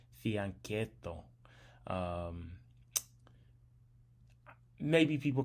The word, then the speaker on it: fianchetto: I think the CH is pronounced like a K in Italian, so fianchetto.